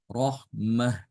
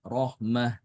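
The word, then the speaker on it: رحمة: qura bacaan Imam qura ketika wakaf semua sama-sama membaca dengan ha Rahmat ya rahmatallah dibacanya Rahmah Kalau tulisannya seperti ini ya Kalau tulisannya seperti hitam marbuta seperti ini maka semua dibaca Rahmah ya Nah perbedaannya itu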